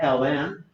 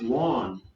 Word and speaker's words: ln: Okay, lnx or lawn x. I tend to say lawn just because it's like a word, and it's like one syllable.